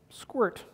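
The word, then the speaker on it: sqrt: Library it has a function in it called squirt yeah that's what it's actually called but it's spelled squirt so if I give it a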